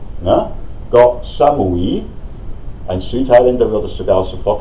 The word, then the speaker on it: Koh Samui: Es heißt nicht Koh Samui, sondern Koh Samui. Na? Koh Samui.